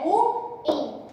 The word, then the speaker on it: ruim: O certo de se falar essa palavra é ruim. Por quê? Porque ela é uma oxítona. Ou seja, a última sílaba mais forte. Então aqui, apesar de não ter um acento gráfico, o prosódico está presente no in, ruim. Assim como condor, harém, Nobel e não Nobel, beleza?